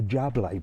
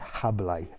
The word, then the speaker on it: Jable: people call it the jabla Bermudas it's spelled with a J but the J is a h sort of so it's habay Bermudas uh so don't get